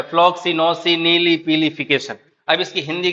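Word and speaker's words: floccinaucinihilipilification: देखो फ्लॉक्सी नोसी नीली पीली फिकेशन फ्लॉक्सी नोसी नीली पीली फिकेशन डिवाइड कर दो ये फ्लॉक्सी ये नोसी ये नीली ये पीली ये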